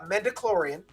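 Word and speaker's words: midi-chlorian: rubbing off on me anyway so uh uh mendiclorian yes i said it right this time we're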